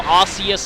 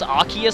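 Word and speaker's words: Arceus: like how the whole arus arus Scandal yeah so Pokemon Battle Revolution says arus the anime says arus I still prefer arus because that's closer to the Japanese and that's another thing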